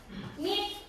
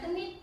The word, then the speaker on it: knit: Contohnya nit itu bacanya bukan kenit, kayaknya nggak usah dibaca.